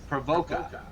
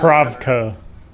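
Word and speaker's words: Pravoka: Provoca. The traveler. Pravka. Sorry. Provoca. Pravka. P-R-O-V. Where's this spelled?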